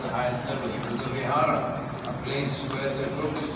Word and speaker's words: Vihara: You know, the Sanskrit word is Vihara. Yes. Bhojpuri little mispronunciation is Vihara, which is Bihar in Hindi, because in Hindi they eat up the last syllable.